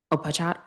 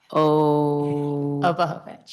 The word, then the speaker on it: Obohovich: Opachat? Obohovich. Obochowicz? Obohovich. The C is silent.